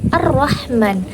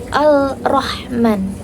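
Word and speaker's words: الرحمن: Ha mim dan Nun Bacanya adalah Arrahman bukan alrahman jadi Alif lamnya itu lebur ke dalam eh ke dalam e huruf berikutnya contoh lain seperti amsi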